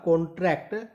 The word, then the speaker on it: contract: और ऊपर आपने जो जो नोटिस किया, कॉन्ट्रैक्ट, कौन, कॉन्ट्रैक्ट, वहां पर फोकस था कौन पर, और यहां पर फोकस होगा ट्रैक्ट पर।